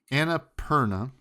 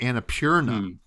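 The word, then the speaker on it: Annapurna: news I guess but Anna Perna you know I've always pronounced it differently because I I see p p Ur and I think like pure so I always think Anna purea it's Anna interactives entire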